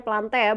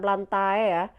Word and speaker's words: Plantae: nih Yang diatas lantai bacanya plantea bukan plantae plantae ini kerajaan tumbuhan-tumbuhan